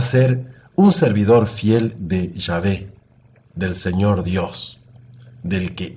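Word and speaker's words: Yahvé: no sabían bien el hebreo leyeron la palabra llave como se hay que pronunciar la en hebreo la leyeron con unas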